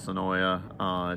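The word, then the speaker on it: Senoia: And I call it Sonoa, she calls it Sonoy. Other people call it Sonoya. It's a heated debate around here.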